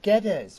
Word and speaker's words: Geddes: Hello, Geddes. Hello. I'm John. Nice to Hello, talk that's to you. Geddes, that's me. It's Geddes, right? Get Geddes these even, yes.